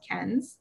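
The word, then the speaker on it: Cairns: um a destination called ken's which you see up there it's pronounced nothing like it's spelled um but that is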